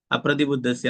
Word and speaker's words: അപ്രതിബുദ്ധസ്യ: ഒരുമിച്ച് വരുമ്പോൾ യഥാഹി അപ്രതിബുദ്ധസ്യ അപ്പൊ ഉച്ചാരണം അവിടെ അപ്രതിബുദ്ധസ്യ എന്നാണ് രണ്ടാമത്തെ ലൈനിലുള്ളത് പ്രതിബുദ്ധസ്യ എന്നുള്ളതാണ് കേട്ടോ രണ്ടും പരസ്പരം വ്യത്യാസമായിട്ടുള്ള മീനിങ് ആണ് അപ്പൊ യഥാഹി അപ്രതിബുദ്ധസ്യ എന്നുള്ളതാണ്